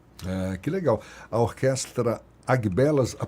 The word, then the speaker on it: Agbelas: aguelas não B errado não Mas você prefere abelas abelas uhum ah então vai ser abelas a